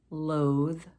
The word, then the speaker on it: loathe: And at the end of the word, bathe, loathe, smooth. And again, we're talking about sounds here, not just letters. So bathe and loathe end with an E, but that E is silent.